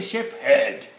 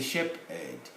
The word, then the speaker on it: shepherd: It's not a sheep herd. It's a shepherd. Shepherd. H is silent.